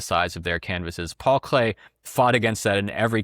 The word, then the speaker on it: Klee: small paintings by Paul Klee, or Paul Klee. His name is spelled with two E's, but as I understand it, it would be pronounced Clay.